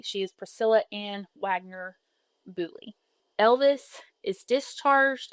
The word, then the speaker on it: Beaulieu: And I will go back and say Priscilla's maiden name, in English, we would pronounce it Bouli. In French, because to me it looks very French, it's Boulia.